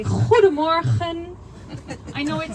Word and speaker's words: goedemorgen: We have a lot of G's in our language and we pronounce it like so we say goedemorgen.